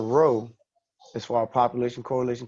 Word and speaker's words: rho: Rho? Oh, RHO, okay. Yeah, rho. I'm sorry, I could have said RHO, but yeah, just rho.